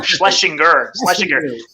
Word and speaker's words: Schlesinger: I always get that name wrong. Schlesinger.